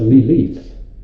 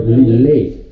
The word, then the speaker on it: Lilith: and it's actually pronounced Lilith Really? or Lilith with a little Y in before the TH.